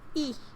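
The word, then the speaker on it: え: E. Or E. The equivalent of the vowel I in English. You pronounce it as E. E is a short vowel.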